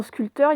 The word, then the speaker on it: sculpteur: Donc vous voyez, dans sculpteur, il y a un P qu'on n'entend pas. Quand on l'écrit, il faut le mettre, mais on ne le prononce pas.